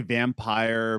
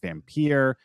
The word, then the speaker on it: Vampyr: And some people say vampire, but old English text will pronounce it Vampyr.